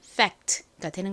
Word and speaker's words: fact: 그래서이 단어의 발음이 한국식으로 팩트. 그리고 실제 발음은 fact되는 겁니다.